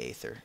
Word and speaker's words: Aether: they call it the ether or the Aether because ather Aether is how the mod makers pronounce it but ether is how the word is pronounced but I digress farlands